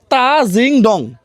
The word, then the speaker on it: তাজিংডং: উচ্চারণটা হবে তা জিংডং।